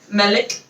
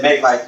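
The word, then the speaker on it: malik: Melik. Oh, Melik. Oh, I thought you said Meg like. No. No, It's just the Arabic pronunciation makes it sound like that because the A is shorter.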